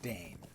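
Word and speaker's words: Dáin: Although the dwarf D-A-I-N is Dane, because that's not an Elvish.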